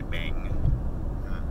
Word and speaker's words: Bank: So the way you say bank in Thai is you drop the K and you just say bang. But his name's Bank. Like when it's spelled out, then it's spelled bank. People call him bang.